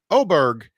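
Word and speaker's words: Åberg: Yeah, the A that's pronounced O.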